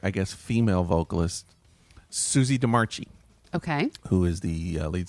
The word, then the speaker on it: DeMarchi: I think sometimes people pronounce it DeMarchi. Okay. I think she pronounces it DeMarchi.